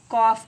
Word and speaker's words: calf: कॉफ कहते हैं। कॉफ मीन्स होता है गाय का बछड़ा, ठीक है। स्मेल साइलेंट होता है, इसे हमें कॉफ रीड करते हैं, कॉफ पढ़ते हैं।